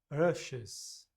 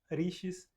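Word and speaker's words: ऋषि: Não existe letra I nessa palavra. Nós só colocamos uma letra I para facilitar a pronúncia. O termo, na verdade, se escreve com R e um ponto embaixo, que é a vogal Ra, Ra, Ra, e depois um S com um ponto embaixo que transforma o S em Chá. Então, rushes, rushes. Não é fácil pronunciar, por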